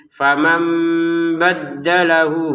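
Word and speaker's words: فَمَنْ بَدَّلَهُ: Faman nun sukun bertemu ba ya, maka nun sukunnya diganti mim ya. Sehingga cara bacanya famam gitu ya, ada unsur samarnya menjadi famam baddalahu, hunya 2 harokat, ba'dama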